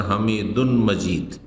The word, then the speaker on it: হামিদুন মাজীদ: একটি উচ্চারণ হচ্ছে ইদগামের সাথে, এটি হচ্ছে তাজউইদ বা কেরাতের কায়দা, আর একটি বিনা ইদগামে।